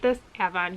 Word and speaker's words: Avon: of a mass market emma evon i hate this avon you can tell i'm from rochester we have a town in rochester that spelled avon but it's pronounced avon we have a lot of stuff like that